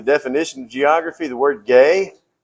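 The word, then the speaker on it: γῆ: So here we are, Bible geography, the definition of geography, the word gay. It's gamma eta. We pronounce that gay.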